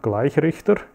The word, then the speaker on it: Gleichrichter: Rectifier in German, Gleichrichter. But if you pronounce it a little bit different, it's a gleich riecht er. That means it will start to smell quite soon.